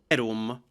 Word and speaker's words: verum: verum. Verum. The M is nasalized.